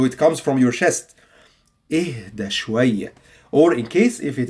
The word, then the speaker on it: اهدى شوية: When I say اهدى شوية. اهدي شوية. Yes, it means calm down. Why? Because it has an H.